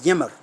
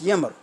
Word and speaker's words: Ymir: This giant is called the Ymir. Some people say the Hymir.